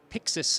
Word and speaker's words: PYXIS: the Blackmagic design booth now this is the pixus am I saying it correctly that's right yeah